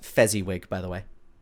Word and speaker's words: Fezziwig: inside and gone downstairs and we can't fight fizzy wig anywhere and he was last seen speaking to hack lists it's pronounced Fezziwig by the way it's Fezziwig thank you did did fizzy with just a